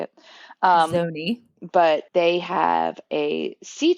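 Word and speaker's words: Zoni: to be more private called Zony, like Zo Ni. So, I think that's how you say it. Um, Zony, but they have a sea turtle kind of like sanctuary.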